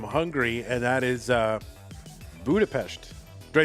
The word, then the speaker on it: Budapest: I'm trying to Is it Is it like a sh But what state is Allejo from? You pronounce the Hungarian s as sh. Okay. So Budapest Budapest.